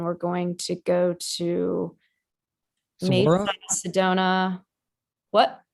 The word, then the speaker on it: Saguaro: We're going to go to Saguaro National Park. We're going to hike like the rim of the Grand Canyon. And we're going to go to Saguaro? Mesa, Sedona. What? Saguaro?